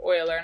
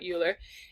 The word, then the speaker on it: Euler: actually named after this guy Leonard Euler that's pronounced Euler not Euler and he's the one who actually figured this